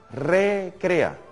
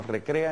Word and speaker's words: recrea: espíritu que nos recrea esa palabra hay que pronunciarla bien recrea porque si la pronuncia seguido queda que el espíritu no recrea en el sentido que nos distrae nos entretiene y no estamos hablando